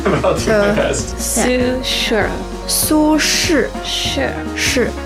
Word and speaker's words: 苏轼: 苏轼. I'm going to get that wrong. I'll do my best. Su Shura. 苏轼. Sure. So Su is S-U, and S-H-I is his name.